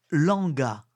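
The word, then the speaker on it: Lwanga: ordinaire l'église faite Saint-Charles Langa Langa s'écrit l W A n g Langa et ses compagnons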